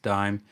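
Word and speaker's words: disme: country you'll see that it's written d-i-s-m-e but it was always pronounced dime and people always called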